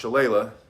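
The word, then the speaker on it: shillelagh: he's very polite and he said i think he's pronounced shala and so we went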